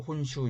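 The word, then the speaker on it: 本州: 늘어진 소음이 돈 주 일본어 발음으로 혼수 입니다 그리고 이 지도에는 표시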